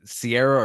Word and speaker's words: Ciara: And you pronounce it Sierra or Ciara?